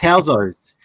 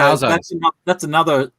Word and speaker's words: Housos: Bancroft, it's Housos. So Housos.